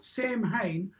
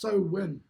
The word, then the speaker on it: Samhain: So what they would do is they would practice, and it was called it's spelt Samhain, but pronounced Sowin. So if you think about sowing, it's about sowing seeds and shit.